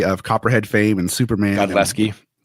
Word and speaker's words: Godlewski: Godlewski. The W is silent.